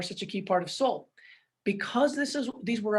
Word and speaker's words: Solle: it funny i mean a lot of people still say soleil because you've got that e on the end soleil and it's really just soul s-o-l-l-e soul why did we choose